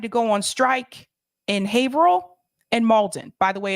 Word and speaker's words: Haverhill: By the way, it's pronounced Haverhill, not Haverhill, even though that's the way it's spelled. Welcome to New England, where the towns and the cities do not, the names don't make sense. And sometimes they are now not pronounced the way that they are spelled.